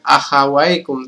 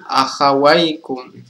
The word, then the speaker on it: akhawaikum: Jadi cara membacanya bukan akhawaikum, teman-teman, tapi akhawaikum.